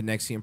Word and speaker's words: NXIVM: 56 has become the face of opposition to nexium pronounced at nexium as a virtually the only parent